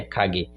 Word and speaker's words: Kage: Alguns falam Kage, mas a pronúncia é Kage.